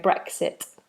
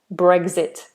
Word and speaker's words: Brexit: for a K sound I was going brexit brexit like eggs mmm I don't know what I was doing but I was pronouncing it wrong but the actual pronunciation is bread brexit brexit and brexit stands for